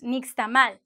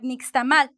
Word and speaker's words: nixtamal: That's an indigenous word. That's a Nahuatl word. So it usually it's like nixtamal. But speaking of those indigenous words, there's something, some kind of tips to give you. When it's an indigenous word, a Mayan word, a Nahuatl word, you're going to say nixtamal.